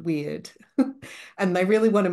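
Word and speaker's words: wyrd: and Co you know it's called to be weird but it's spelled w yr d um as opposed to you know the English version of weird and hey I I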